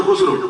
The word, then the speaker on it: خسرو: مرید خاص امیر خسرو، خسرو مشہور ہے، تلفظ اس کا بھی دوسرا ہے لیکن مشہور یہی ہے تو خسرو۔ غلط العام جب ہو